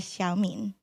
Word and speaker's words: Xiaomin: they've heard all week my name Hugh man is pronounced in Chinese as xiaomin these characters directly translate